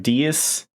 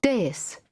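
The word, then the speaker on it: dais: attempt it Deus Deus I was gonna say like dias I don't know hold on let's get some like actual people Deus Deus yeah okay day is uh one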